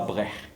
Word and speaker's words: Brech: Donc Brech, alors en breton, qu'on prononce Brech. Hein, c'est la prononciation en breton.